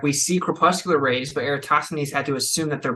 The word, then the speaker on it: Eratosthenes: Eratosthenes. Yeah, it's hard to pronounce.